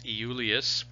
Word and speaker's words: Iulius: The Romans actually didn't have a J, so his actual name was Iulius.